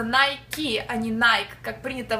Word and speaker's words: Nike: поиграть в американский футбол а можно будет компания-производитель nike обращаем ваше внимание что произносится nike аниной как принято в россии nike это правильное